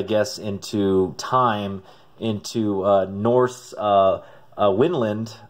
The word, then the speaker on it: Vinland: time, into Norse Winland, which I didn't know it's actually pronounced Winland according to the information back here. I always said Vinland, that because it reminds me of Vinland Saga, the manga, and I've always pronounced it that way, but I guess I was 100% wrong.